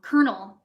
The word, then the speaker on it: colonel: Or kernel, which is spelled colonel, but it's kernel.